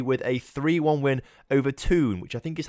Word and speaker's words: Thun: I thought it was pronounced Thun, but apparently the TH sound in German/French/Swiss is like a T sound, so it's more like tune or something like that.